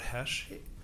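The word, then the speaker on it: Hoesch: could start by stating your full name and spell it out for us my name is Hesh r-o-b-e-r-t-h-o-e-s-c-h doctor nice to see you what what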